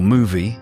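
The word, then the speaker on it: Mowi: biggest salmon farming corporation Maui or movie as is correctly pronounced is deeply personal.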